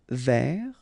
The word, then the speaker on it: vers: Final S not pronounced. Tourner vers.